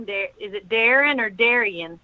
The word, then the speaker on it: Darien: So I go by Darren, but it's spelled Darien.